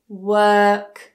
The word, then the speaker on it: work: Work. Super lazy.